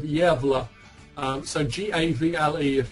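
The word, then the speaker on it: Gävle: search for um uh and spell it javal G vle this is um the Swedish town of yeva um so gav vle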